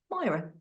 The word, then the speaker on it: Myira: an invitation to go Myra tell tell us about a how do you pronounce your name because I know the spelling of my name can confuse people the i in the middle is silent um but what's the